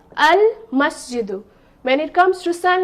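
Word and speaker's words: المسجد: Okay, so here no tashdeed sign, and lam here, lam is not silent. Lam is pronounced. So I will say, will I say masjidu? No. I will say al-masjidu.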